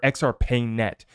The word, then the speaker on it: XRPayNet: 6X for xrp pay or XR pay net is how you pronounce it now I wanted to